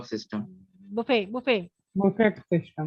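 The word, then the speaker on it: buffet: हो गया ब system बफे बफे बफेट system बफेट नहीं होता है यह फ्रेंच वर्ड है तो फ्रेंच में लास्ट का जो टी साइलेंट होता है बुफे बुफे बफे बफेट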